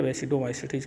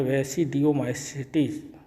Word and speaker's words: वेसिडियोमाइसिटीज: वेसिडियोमाइसिटीज या वेसिडोमाइसिटीज कहते हैं, वैसे ज़्यादा सही उच्चारण है वेसिडियोमाइसिटीज।